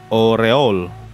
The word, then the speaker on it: Aureole: telah tiba di aureole Oh ternyata gitu cara sebut namanya aureole ya selama ini gua kira tuh bacanya aureole Omega terus cara baca Yang benar kayak gimana oreol oreol di sini nama aureolenya dibaca oreol berarti oreol Omega oreol